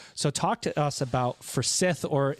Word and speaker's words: Forsyth: So talk to us about Forsyth, or if you're looking at the words phonetically, Forsyth, right?